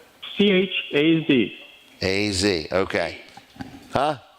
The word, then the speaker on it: Chaz: All right, so Chase, what is the name again? How do you spell your name? C-H-A-Z. A-Z, okay. Huh? Z, Chaz. Yeah, I said it wrong.